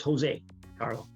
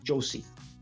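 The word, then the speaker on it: José: It's pronounced Jose, Carla. It's not Josie.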